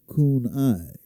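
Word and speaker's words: CANI: As a result of this understanding, I created a simple mnemonic Kenai, pronounced Kunai, which stands for constant and never ending improvement.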